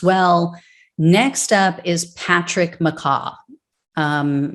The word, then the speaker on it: McCaughey: next up is patrick mccaw um macau murakai mccoy i've heard it pronounced multiple ways it's spelled m-c-c-a-u-g-h-e-y i'm going to call him mccoy because that's what i've heard most um so mccoy was